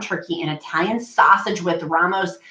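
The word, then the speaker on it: Rao's: I use low carb wraps, ground turkey, and Italian sausage with Ramos, how do you say that?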